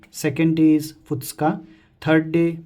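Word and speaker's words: ふつか: So first day is Tsuitachi, second day is Futsuka, third day Mikka, fourth day Yokka, fifth day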